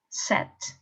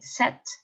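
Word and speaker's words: sept: it that's right it's set set don't pronounce the p okay set read the next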